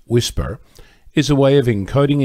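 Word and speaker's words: WSPR: you first of all WSP are pronounced whisper is a way of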